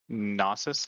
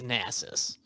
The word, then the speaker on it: Nasus: mispronounce it's like like there's champs like gnosis nieces i don't know basis i don't know how to say it like it's the correct way i believe it's nasus what's one champion that